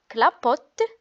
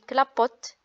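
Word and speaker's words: clapotent: Donc, ENT dans un verbe ne se prononce pas. On ne dit pas clapotant, glissant et plongeant. On dit clapote, glisse et plonge.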